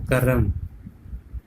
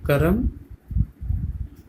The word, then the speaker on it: कर्म: तो बच्चों लिखा है करम, तो करम इस तरह से नहीं लिखते, कर्म ना, तो हम उच्चारण क्या करते हैं, कर्म बोलते हैं, नॉट करम, करम नहीं बोला जाता।